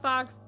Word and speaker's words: Faux: my name is Fox it's not Fox it's pronounced Fox I'm dyslexic therefore everyone